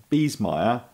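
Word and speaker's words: Biesemeyer: can't smell good so bees meyer you would have never guessed this is b i e s e m e y e r all right i need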